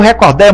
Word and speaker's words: recorde: recorder ele bateu o recorde mundial de natação teria cento mas como nem recolhe nem record é o certo é recorde o exceto falar é